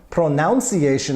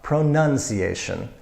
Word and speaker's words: pronunciation: problems with pronounce but when they try to use it in the noun form pronounce iation I hear very often no now pronunciation pronunciation to pronounce the third